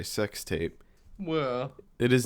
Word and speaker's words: SX Tape: So, yes, this this movie just came out this year and it it is spelled SX tape, but I think we're all supposed to just say sex tape.